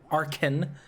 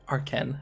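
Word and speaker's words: Arcen: it's a are cen so some people say arson they're like no it's Arkin games so so it's funny when you have to express like this house pronounced are Ken and I went to the website that it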